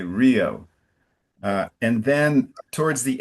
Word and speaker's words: Rio: We don't say hew. We say Rio.